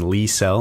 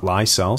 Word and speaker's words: Lysell: Fabian Lysell, not Lysell.